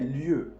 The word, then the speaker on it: lieux: Al plural, les lieux. Se dice de la misma manera. Otra vez, la marca del plural no se pronuncia.